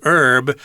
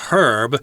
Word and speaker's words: herb: Some people pronounce this as herb. I think I tend to say herb myself. Is that how you say it? Yes, I'm an herb girl. A lot of times if you're British, if you have a British accent, you'll say herb. Right, and herb for Americans is just some kind